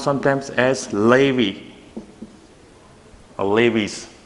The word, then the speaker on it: Levi's: This is the 2 syllables, Levi's. It's not Levis, it's not Levi, Levi's.